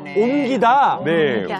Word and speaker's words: 옮기다: 딱 하나만 발음하시면 돼요네 모든 겹침은 딱 하나만 발음하시면 되는데 기 의 이게 리을 미음 같은 경우는 옆에 바른 기열 보실게요 미음으로 이렇게 겨 아 그래서 옮기다네 옮기다가 됩니다네 한번 읽어 볼까요 먼저 옮기다 옮기다 옮기다 옴기다네 옴 옴 옴 옴네 미음으로 발음 된다라는 거 미음으로 소리 난다는 점 생각하시면서 한 번만 더